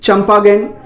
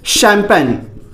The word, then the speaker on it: champagne: क्या आप यही पढ़ रहे हैं, चंपागेन या चैमगेन? लेकिन एक्चुअल में यह नहीं है। इसका जो सही उच्चारण है, प्रोनाउंसिएशन है, वो क्या है? शैंपेन। शैंपेन, जी हाँ, इसको हम बोलेंगे, पढ़ेंगे शैंपेन। एक तरीके का क्या है?